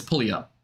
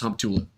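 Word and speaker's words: Humptulips: is not pull all up I think that's pulley up hump tool up that one actually is pronounced hump tulip there's no other way to pronounce it squim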